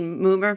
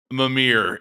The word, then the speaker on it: Mimir: Moomer from God of War? That's a real Moomer move. Did I say it right? No, you said it funnier. Oh. It was good. Mimir.